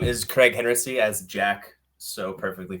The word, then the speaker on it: Kreg Henritzy: people who you are hi my name is Craig hency as Jack so perfectly pronounced um currently I am an account manager